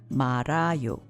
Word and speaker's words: 말아요: Which is pronounced 말아요. 지금 김밥 말아요.